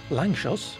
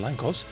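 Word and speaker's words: Lanczos: figure out that you are supposed to pronounce it Langchos rather than Langkos, but there you go.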